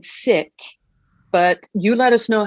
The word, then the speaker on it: Sikh: So it is pronounced Sikh with an aspirated H, but if you say Sikh, most likely we will